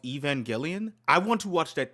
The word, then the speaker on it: Evangelion: theory you've seen on Aangelion, for every YouTube video. Bro, that's a bro, that's another movie I wanted to watch that I was requested to watch this e Well, it's pronounced Evangelion.